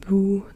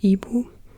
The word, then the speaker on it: Ibu: know milk coffee and then dulu first and Buu the woman again like you can say Buu or Ebu the same way you can say Bak or